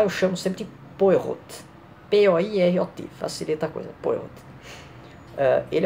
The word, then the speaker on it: Poirot: Como eu não sei francês direito, né, deve ter pronunciado errado, para facilitar, eu chamo sempre de Poirot. P-O-I-R-O-T, facilita a coisa, Poirot.